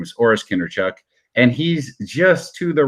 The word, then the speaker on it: Kindrachuk: My real last name is Kindrachuk, or as it's pronounced in Ukrainian, Kindrachuk, which sounds terrifying and vampiric.